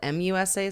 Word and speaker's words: Musa: But now I see here it's spelled M-U-S-A. So maybe their accents made it sound like Misa and it's Musa.